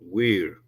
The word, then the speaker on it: Weir: José Ángel Quinteroir o we we que así es como se pronuncia, es un es un sujeto que que